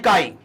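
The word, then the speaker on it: χ: इसको डिनोट करते हैं काई से, इसको प्रोनाउंस करते हैं काई, ठीक है, ये सिंबल है इसका, ठीक है।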